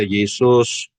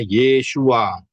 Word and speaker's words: Yeshua: adalah orang Yahudi, ya, namanya bukan Yesus, jadi Yeshua, masuk pintunya Yeshua, Yodshin Waw Ayin itu tidak bisa dibaca Yesus, bacanya Yeshua, ya, itu yang betul.